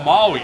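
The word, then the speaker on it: Māui: There's a kahako, there's a line above the a in the name of the ancestor. So we elongate that vowel, Maui.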